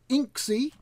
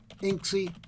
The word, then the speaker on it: inxi: anyway today we have a little something called Inc C which is spelt I and X I and which is